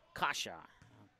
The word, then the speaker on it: Kaja: So Kelson Kasha is how you say it. Kaja. Kasha. And then, so Kasha is how it's said, according to the email that Rick Smith was kind enough to email to me.